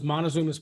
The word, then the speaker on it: Montezuma's: two things extra, and one of them was Montezuma's Pass. Am I saying it right? It was Montezuma's Pass.